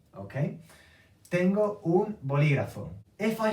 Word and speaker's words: bolígrafo: How do I know how to say this word? Because I have the accent. I have the apostrophe here, okay? Tengo un bolígrafo.